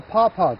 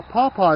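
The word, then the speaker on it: pawpaw: cool okay what we have here is a paaw tree a paaw is spelled p aw P aw and it's a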